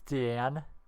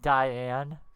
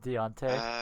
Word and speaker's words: Deanne: Also, it's Deanne. Like Diane. But it's Deanne, the T is silent. Not Deontay. This isn't Dante.